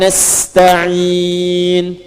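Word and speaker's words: نستعين: Nasta'in dibacanya fathah depannya. Ya. Ujungnya harakatnya u kalau disambung.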